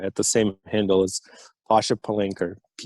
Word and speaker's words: Palanker: can find you on linkedin at pasha p-a-s-h-a palanchor p-a-l-a-n a-k-r-e i'm sorry i butchered that my friend i have butchered that